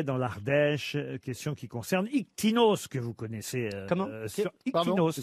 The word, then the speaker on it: Ictinos: Ictinos s'écrit I-C-T-I-N-O-S. Ouais. Parfois, on peut aussi le lire Ictinus.